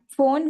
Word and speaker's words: phone: And phone we do not pronounce p and s differently. We pronounce as fa means in Hindi we can say fa. So it is phone.